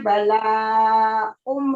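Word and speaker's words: بلاء: Ustaz, untuk membacanya bala'um ya Ustaz. Iya, bala'um. Ya, tanwin sama mem itu, Bu, dimasukkan jadi nun atau tanwin bertemu dengan mim itu kalah nunnya, menang mimnya itu.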